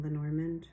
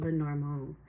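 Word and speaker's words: Lenormand: I know I'm pronouncing Lenorand not well either. Um it's Madame Lenorong.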